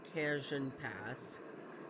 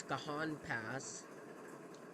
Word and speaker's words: Cajon Pass: pronunciation um cajon pass you don't know how many times i tried to call it kanjin pass nope it's kahan pass um so anyways i'll